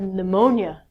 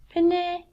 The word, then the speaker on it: pneumonia: I thought I had diarrhea, but I actually had pneumonia. I couldn't say this word when I was a child. I looked at it and went, penne, diarrhea.